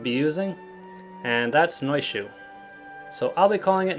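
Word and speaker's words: Naoise: to pronounce this name the first is the modern pronunciation which is Nisha or Nisha and then there's the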